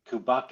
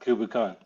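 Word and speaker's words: Cù Bòcan: Kubakin, Oh, not Kubukan. Kubakin. Yeah, Kubakin.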